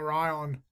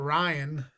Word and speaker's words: Ryon: Healy how about that did you ever see the name Ryan spelt with an O instead of an a no how do you feel about that right on righto and run Ryan Ryan is our vizia